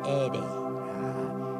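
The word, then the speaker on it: ἤδη: Tulisannya edu. Tapi cara bacanya harus cara baca Batak. Ede. Ya, bahasa Yunani itu logat Batak cocok.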